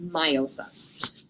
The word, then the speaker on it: meiosis: said their process is called my meiosis or meiosis the proper way to say it is meiosis humans have a haploid